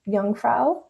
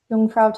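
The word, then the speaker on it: Jungfrau: Grinderald also has the um Yungfra Yungfra top of Europe. If you're ever looking at like you know how to spell it and you're like Jungfra for example looks kind of confusing.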